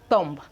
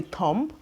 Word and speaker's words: thumb: We have thumb, thumb, thumb. This is the thumb, the thumb. We have thumb, thumb, thumb. So when we are pronouncing any of this word, the B is usually silent.